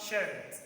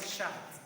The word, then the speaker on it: shirt: okay and he's wrong so you have shirt shirt shirt so not shut do you get it